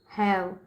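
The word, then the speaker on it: have: और यहाँ पे ई जो है ये साइलेंट है।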